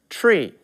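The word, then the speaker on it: trie: invented the TR IE again to confuse you even more is pronounced tree so this is the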